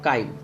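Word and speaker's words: chyme: हम इसे कहते हैं काइम। ठीक है, चाइम भी कह सकते हैं, काइम अपना अपना प्रोनाउंसिएशन।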